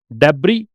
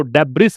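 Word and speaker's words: debris: मलबा, मलबे का ढेर, डेब्री, इसको डेब्रिस नहीं बोलते, से म्यूट रहेगा, डेब्री, रैकिज, रूइंस, ब्रुटल का मतलब होता है क्रूर, क्रूर।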